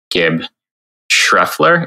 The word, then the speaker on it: Gibb Schreffler: I'm one of the moderators on the Bhangra podcast, and I'm here with Gibb Schreffler. Is that the best way of pronouncing it?